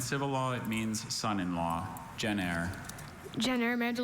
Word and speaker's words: gener: Gener. Gener. Gener, may I have the definition? In Roman and civil law, it means son-in-law. Gener.